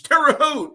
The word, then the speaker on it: Terre Haute: It's Terre Haute, not Hut.